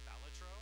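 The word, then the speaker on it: Balatro: I just play blackc I heard a rumor that it's called It's pronounced batro yes true yes so TI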